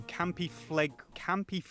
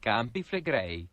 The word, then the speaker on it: Campi Flegrei: a year Yellowstone moves pales in comparison to Campy Fleg. And I've never heard of that one, so... It's pronounced Campi Flegrei.